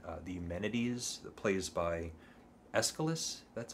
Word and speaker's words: Aeschylus: And then I read the Orestes plays, so Agamemnon, the Libation Bearers, and the Eumenides, the plays by Aeschylus, that's how you say it.